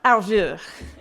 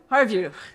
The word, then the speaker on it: Harveux: I'm going to mess up your name because I'll say it French style. Harveux. How do you say it American style? Harveux.